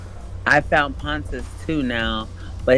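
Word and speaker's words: Pontus: I found pontis too now, but it's spelled P O N T U S and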